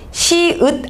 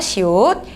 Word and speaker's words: 시옷: 시읒 아니고 시옷이라고 읽으셔야 돼요. 시옷.